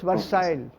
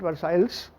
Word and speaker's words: Versailles: That's Versailles, and not Versailles. The L is not pronounced in French in this word.